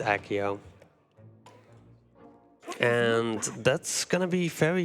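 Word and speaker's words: Accio: was talking about with this ekio or SEO or however you want to say it um Akio it's Akio and that's gonna be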